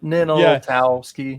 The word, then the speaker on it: Ninaltowski: Pretty much like it's spelled. Ninaltowski.